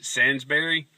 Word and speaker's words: Sainsbury: letters of your name is xqp and you pronounce it Sansbury just saying there's something off about this people